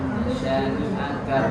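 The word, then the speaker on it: شَانِئَكَ: Kemudian nasyani'a kan-nya juga pendek. Nasyani'aka buat jangan dibaca ni'aka buat.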